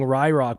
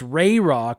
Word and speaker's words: Rayrock: By the way, it's pronounced Rayrock. I know, I used to say Rayrock, and then for some reason I thought I was pronouncing it wrong, so I was saying Ryrock, but it's Rayrock.